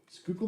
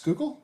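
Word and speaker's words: Schuylkill: what makes it Frank it drives on the skookul expressway drunk you had to be a philadel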